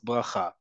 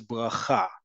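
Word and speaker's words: ברכה: Whether you say rish, um uh as um rish or reish or rish, bracha bracha bracha, they all mean the same thing in Hebrew, a blessing. Again, we talked about this last week. We've talked about this multiple times in the past. The default emphasis in modern Hebrew is always on the last syllable.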